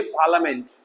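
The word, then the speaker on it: parliament: इस तरीके से पार्लियामेंट ना के पार्लियामेंट, बहुत सारे लोग कहते हैं पार्लियामेंट, लिया नहीं है, कुछ भी लिया दिया नहीं है, हेलो हाँ समझ जाओ, लिया नहीं, ओनली पार्लियामेंट, प ल, आई साइलेंट हो गया तो ल ही तो पढ़ोगे ना, एल ए ल, पार्लियामेंट संसद।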